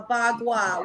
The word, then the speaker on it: Bagua: A bagua, which is a tool that I was taught how to use with feng shui.